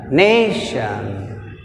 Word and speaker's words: nation: Nation. See here, nation, shan 1, ne 2. Second syllable from the end means ne.